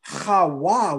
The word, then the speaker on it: Chawa: The Bible calls her Chawa with a W, which means to speak life.